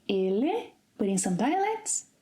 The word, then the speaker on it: ele: end of a word, in some dialects it is pronounced as 'EE' as in 'movie'. Let's take our first word here as an example. So, I could say 'ele', but in some dialects 'elee'.